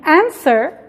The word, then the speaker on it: answer: answer se fijan en answer no estoy pronunciando la w answer enzo no se pronuncia